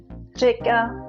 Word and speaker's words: řeka: In the beginning, řeka, říjen, řídit. In the middle, zvíře, Paříž. Or in the end, lékař, kouř. You can also use those words in a sentence. To je řeka Vltava, já řídím auto, on je lékař.